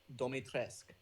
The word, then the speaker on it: Dimitrescu: her name is pronounced Domitrescu.